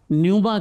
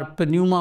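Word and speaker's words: pneuma: رواخ کہتے ہیں۔ صحیح۔ یونانی زبان میں اسے نیوما کہتے ہیں، اور بہت کم لوگ ہیں جو اس کے اصلی صحیح تلفظ کو جانتے ہیں۔ وہ کئی بار پنیوما بولتے ہیں، جو بالکل غلط ہے، کیونکہ پی اس میں سائلنٹ ہے۔ صحیح۔ یہ جو رواق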